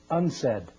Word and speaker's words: UNCED: Nations Committee for Environment and development it is pronounced unsaid and perhaps indicating the secret agenda of this